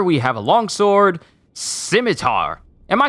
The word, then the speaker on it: scimitar: uh okay scimitar okay so you don't pronounce the c got it maybe i